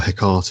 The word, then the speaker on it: Hecate: that the friends of Hecate or Hecate, as Charles always likes to call them, which is a mispronunciation, is Hecate, but apparently the guy called them Hecate just to show off, I think.